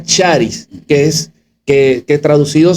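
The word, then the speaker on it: χάρις: aquí en es una un término griego que se pronuncia charis que es que que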